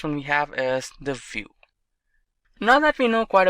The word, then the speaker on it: Vue: complete web application solution view. GS is commonly referred to as View and pronounced as vuejs or view is rightly so now why should